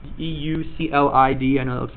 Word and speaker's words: Euclid: is a Greek mathematician by the name of Euclid. That's how you pronounce that, Euclid. E-U-C-L-I-D.